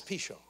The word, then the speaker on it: Pishon: really a strange name pishon now if you spell it it's pigeon the man flies everywhere he goes but it's pishon he come fixed my